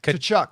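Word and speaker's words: Tkachuk: I need to see Matthew, how do you pronounce that? Kachchuck.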